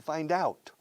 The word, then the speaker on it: find out: Fine, de bien, duda. Find, doubt. Unamos. Find out. Así se pronuncia averiguar. Que es escrito find out. Pero es esencial usar la D en medio de bisagra.